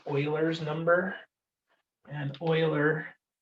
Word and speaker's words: Euler: e we use e because it's it's called euler's number and euler e u l e r